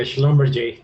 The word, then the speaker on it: Schlumberger: Hey, yeah, Schlumberger, that's how you're supposed to pronounce it.